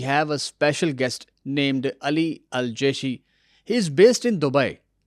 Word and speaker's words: Ali El Jishi: If I pronounced correctly, is it Ali Al Jeshi? Yeah, yeah, very good. Very close. Al Jishi, yes. Ali Al Jishi.